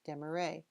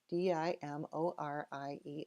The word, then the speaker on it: Dimorier: how to pronounce it hundreds of years ago in France it was dem ra over a couple of hundred years it was changed to Demarest Demery and finally di mo RIE are that last version